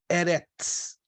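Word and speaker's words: ארץ: é a palavra eterna que se pronuncia ó me acompanha aqui a minha pronúncia erex era isso era lembre-se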